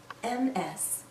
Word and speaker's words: Ms: Jones MS we pronounce this as ms/ms sounds like a Z at the end this a woman can